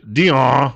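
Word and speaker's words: Dionne: the edges of existing laws meanwhile EJ French Dion of the Washington Post that's how his name is pronounced by uh the crow over at National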